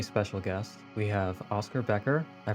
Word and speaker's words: Becher: We have Oscar Becher. I pronounced that right, yes?